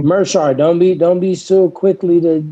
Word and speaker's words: Meerschaert: Meerschaert.